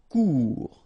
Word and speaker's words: cours: top of u sûr cours final not pronounced cours remember when you combine o and u together get the sound ou cours similaire final pronounced petit